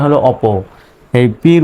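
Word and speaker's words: OPPO: পি ও অপো এরকম বলে কিন্তু এটার সঠিক উচ্চারণ হলো অপো এই পির উচ্চারণটা এই দুইটা পি মিলে একটাই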